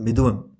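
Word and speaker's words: Mithunam: So this is a Malayalam movie called Midhunam. I'm not pronouncing it right. It's Midhunam. Nam, I think it is. Right.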